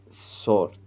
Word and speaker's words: Sor: Siria y arribamos en Sort, porque allí era donde el barco descargaba. ¿Dónde es esto? Esto es en Tiro, la antigua Tiro. Aquí se escribe como Sor porque era la verdadera forma de pronunciarlo.